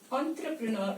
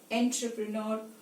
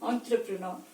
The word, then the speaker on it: entrepreneur: can say entrepreneur this entrepreneur is the right pronunciation of this word it's not intrapreneur and any other indian